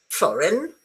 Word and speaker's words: foreign: in English you don't so when you find g in English either you uh for example don't pronounce it foreign okay or yuga ignorant, magnificent.